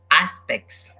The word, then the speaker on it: aspects: a number of aspects aspects you see that the T is not pronounced aspects six she loved